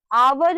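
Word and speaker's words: hour: एन आर, हम आवर में या आर में जो भी प्रोनाउंस करे एच को कभी प्रोनाउंस नहीं करते।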